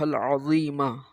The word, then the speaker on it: عظیم: فائدہ دیتا ہے۔ اب اس میں جیسے زوئیں ہیں، زوئیں، تو اس کو کوئی پڑھتا ہے عظیم کو عجیم پڑھ دیتا ہے اپنی لینگویج کی وجہ سے، کوئی عظیم پڑھتا ہے، تو آپ نے وا کے اندر سیٹی کو نہیں بجانا۔ اسأل اللہ العظیم، وا کو موٹا اور پر پڑھیں گے، صحیح تلفظ ہوگا تو